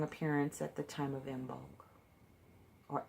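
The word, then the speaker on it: Imbolc: makes a strong appearance at the time of mbonga or a milk if you pronounced it correctly I always brought that on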